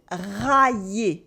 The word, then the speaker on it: railler: And this is the weird difference between rayer to scratch, rayer, and railler to mock, railler. Rayer has an Y, so you can split it into, as we saw before. It makes railler. But railler breaks into ra, y, et railler.